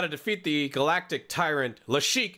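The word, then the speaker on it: Lassic: right we got to defeat the galactic Tyrant lashik it's pronounced le chic people say it's it's um oh hold on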